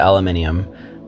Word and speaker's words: aluminium: Now, we're going to go to the aluminium. Now, this is the one few things I actually think the Brits pronounce better than the Americans.